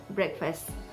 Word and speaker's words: breakfast: The EA sound in a word, the letter combination of EA in a word sounds as EH, like in the word breakfast, B-R-E-A-K-F-A-S-T, it is pronounced as breakfast.